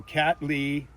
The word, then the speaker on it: Cattleya: So Cattleya. Cattleya. Hey, I got that right then. I've been saying it right. That's how you're supposed to say it.